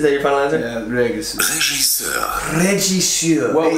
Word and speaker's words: Regisseur: Yeah, regisseur. Regisseur. Regisseur. Well, it's the beginning R. We said regisseur. It's regisseur.